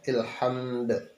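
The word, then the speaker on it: الحمد: Hamd, ilhamd. Karena sering kita dengar Allahu Akbar, Allahu Akbar, Allahu Akbar. La ilaha illallah, wallahu akbar. Allahu akbar walillahil hamd. Ilham salah itu. Jadi ilhamd. Itu cara membacanya.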